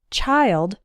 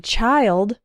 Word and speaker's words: child: is with the word child singular and children plural the vowel sound of the eye changes the eye in child is like the I sound in while and smile child but the eye